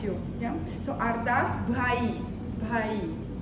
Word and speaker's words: Bhaee: Bhai. Bhai. Oh, it's in Sanskrit, in Punjab, they have a lot of that sound, which is not so easy to pronounce.